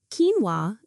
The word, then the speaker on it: quinoa: The pronunciation is Worcestershire, not Worcestershire. Quinoa. Quinoa. Quinoa is a healthy grain from South America.